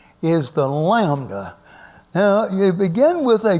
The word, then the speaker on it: lambda: A curved line, and you draw and that is pronounced like the L in look.